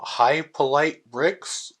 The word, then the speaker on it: Hypolite Bricks: a YouTuber called um High polite bricks I believe is how